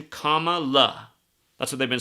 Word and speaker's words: Kamala: Harris I mean Kam cuz that's how you're supposed to say her name comma like comma punctuation Comm La that's what they've been